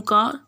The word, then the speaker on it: car: ठीक है, क्योंकि वाउल है ए, तो वाउल के बाद जो आर आता है मेजरली वो साइलेंट होता है, तो वो का बन गया।